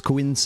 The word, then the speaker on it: quince: Actually, it's quince, Liam. Quince dias, because you pronounce the ooh of ooh.